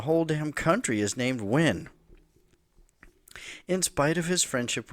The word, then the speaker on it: Nguyen: At one point, someone pointed out that he was mispronouncing the common Vietnamese surname Nguyen, Nguyen, Nguyen. He was saying it something like Nguyen.